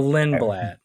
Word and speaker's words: Lindblad: No, Lindblad. Okay. Pretty sure I'm That makes pronouncing that right.